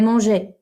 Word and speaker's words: mangés: Okay, so je les ai mangés. So you don't pronounce it, it's just a spelling thing.